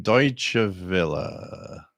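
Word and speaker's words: Deutsche Welle: it's like I like it I like to pronounce it the way it should be thank you jermany um deut Villa so deut Villa and somebody asked for a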